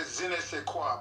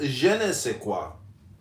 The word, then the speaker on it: je ne sais quoi: It is pronounced je ne sais quoi.